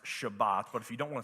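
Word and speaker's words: שבת: so what was Sabbath the word Sabbath is actually a Hebrew word that when properly pronounced is pronounced Shabbat but if you don't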